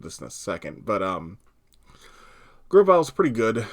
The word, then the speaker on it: Grovyle: You'll see some flavors of this in a second, but Grovyle's pretty good. I actually mispronounced this one until I was a grown-ass adult, and I called it Groovel.